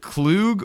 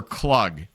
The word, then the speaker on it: Klug: Is it Klug or Klug? It's Klug. Nice. There we go. Good. So I can say that I am German enough to look at a name like that and actually pronounce it correctly.